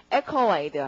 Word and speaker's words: accolade: 강세가 맨 앞이어서 발음은 accolade 이렇게 됩니다.